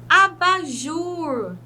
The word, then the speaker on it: abajur: Vejam bem, abajur. Não tem necessidade de acentuar a própria sílaba e nós já sabemos, né, que nessa palavra a última sílaba é mais forte.